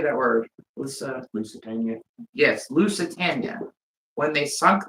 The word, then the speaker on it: Lusitania: Lusitania.